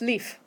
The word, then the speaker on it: lief: This time no A involved. It's pronounced leaf.